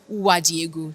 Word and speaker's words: Uwadiegwu: I'm bookie a lawyer day and I've got with me on the seat today Flora Wajigu. Did I pronounce that right?